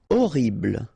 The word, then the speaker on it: horrible: Horrible. Okay, remember we don't pronounce H here.